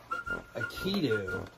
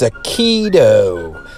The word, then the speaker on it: Akedo: that it's called akiru akitu so what do you do minute correction on the pronunciation there guys i don't know why i try to put that you in there it's a keto so you'll hear me